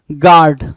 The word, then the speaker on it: guard: Now question number 18, 80 क्या कह रहा है भाई, गार्ड है ना, क्या, गार्ड। और ये गार्ड की स्पेलिंग कई बार पूछा एग्जाम में और कई सारे बच्चों ने गलत किया।